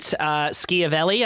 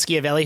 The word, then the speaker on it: Schiavelli: Vincent Schiavelli, I think is the pronunciation of the last name. Vincent Schiavelli, who is, if you don't know that name, you have definitely seen him.